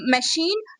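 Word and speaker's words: machine: अब सी एच हमारे पास मिड में आ जाए और उसके फौरन बाद कौन से वाला वॉल आए? आई वॉल आ जाए तो वहां पे भी आपका जो सी एच वर्ड है वो श की साउंड देता है।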